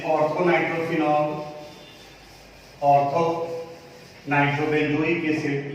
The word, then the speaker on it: ऑर्थो: वो लिखा हुआ है, प्रोनाउंसिएशन ऑर्थो होता है इसका, ऑर्थो नाइट्रोफिनॉल।